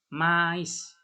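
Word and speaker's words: maïs: Kalau nggak ada aksonnya, ini I-nya, bacanya me ya, seperti tadi itu, me. Tapi kalau ada trémanya seperti ini, ada 2 titik ini, bacanya jadi mais. Ya, mais ya, mais. Dua-duanya vokalnya itu jelas dibaca. Mais.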